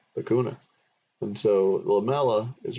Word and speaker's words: lacuna: It rhymes. Lacootie, lacuna.